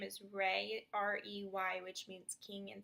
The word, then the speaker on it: Rey: So that way he kind of has, and his middle name is Rey, R-E-Y, which means king in Spanish.